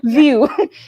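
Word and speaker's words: VUE: offered by pearson pearsonville v-u-e what's the pronunciation view yes and they're the ones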